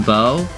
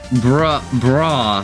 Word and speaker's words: bough: The golden bow. True. I pronounced it like bra, because I thought it was broth. But sadly, it is bow. Because it's when the bough breaks, the cradle will fall.